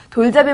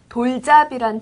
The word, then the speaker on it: 돌잡이: 네, 먼저 돌잡이란 단어는 돌잡이라고 씁니다. 쓸 때는 돌잡이지만 말할 때는 돌잡이라고 발음합니다.